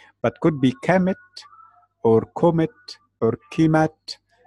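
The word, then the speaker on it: Kemet: the ancient name and to explain why I didn't write the vowels like I pronounce the vowels commit e ke m80 because we are not very sure about the vowels when we read the Egyptian language we are very sure about the consonant so okay I am sure it is K M T but could be commit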